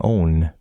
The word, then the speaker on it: one: The word one is from the Germanic side of the family again, and it was originally pronounced as it is in only, so it would have been own.